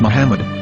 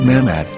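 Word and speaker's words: מחמד: English dictionary it is correctly pronounced as Muhammad not mahmet so how we're going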